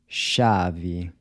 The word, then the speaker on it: chave: Chave. How would you say this? chato. What’s the word for “dog”? cachorro. How do you say “to call”? chamar. So the “c-h” is pronounced like the “s-h” in “shop”.